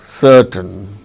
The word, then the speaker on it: certain: a consonant sounded to so in such case r is not pronounced certain but ra sound is pronounced when it is followed by a vowel sound as in the case of surity surity shuri t rit by riti so ro sound is followed by a vowel sound e so rho is pronounced it's yo rati but when it is followed by a consonant sound it is not uttered as in case of certain gordon girl gi